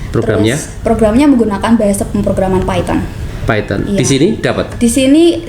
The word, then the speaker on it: Python: Bacanya Python atau Python? Di sana bacanya Python, Pak.